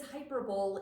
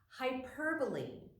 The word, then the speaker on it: hyperbole: is hyperbole and yes i read it as hyperbole in my head but it's pronounced hyperbole and the definition is extravagant exaggeration such as